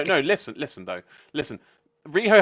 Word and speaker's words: Riho: listen listen though listen riho has a two-syllable name there's already a very simple chant lined up for her which is let's go reho okay like that's that